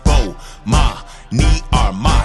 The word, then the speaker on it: Bomani Armah: I'ma say my name so you can pronounce it. Bomani Armah.